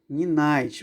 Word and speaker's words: Ninite: Se escreve Ninit, mas se pronuncia nine.